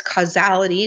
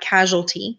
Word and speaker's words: causality: other is causality and listen to how I pronounce that it's causality not casualty okay in the term